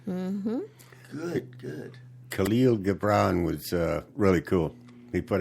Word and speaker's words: Khalil Gibran: And it's from a gentleman by the name of, I don't know if I'm going to pronounce it right, but Khalil Gibran.